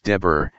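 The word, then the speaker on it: דֶּבֶר: and the Hebraic word for pestilence is XAC, pronounced Deber, and means to subdue, answer, appoint, bid, command, destroy, say, speak, as a spokesman.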